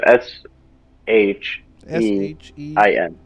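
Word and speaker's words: Shein: amazon whatever and it's called like how you spell it she and that's basically how it's done she and cn yeah so it's s h e i n i n never tried it i don't know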